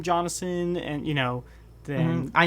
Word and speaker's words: Jonason: The weirdest one I think I ever heard was Jonason. I don't know why. There's no H. Yeah, let's just throw in an extra syllable in there.